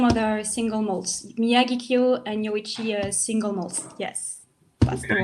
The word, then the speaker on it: Yoichi: We've got the Yoichi. Yeah, am I saying it right? Yoichi.